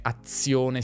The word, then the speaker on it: azione: E vi ricordo anche un'altra cosa, che in parole come azione, situazione, ambizione, di Z ne scriviamo una, ma ne pronunciamo due.